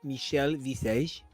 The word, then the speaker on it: Michelle Visage: those references actually and there her name is pronounced Michelle Visage she is a huge anglophile and was really